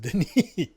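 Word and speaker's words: Denis: So, his his name is spelled Dennis, but it's pronounced Deni.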